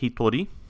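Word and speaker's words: 一人: ichi and then hito one person is pronounced hitori it's an exception to standard counting rules and adding de meaning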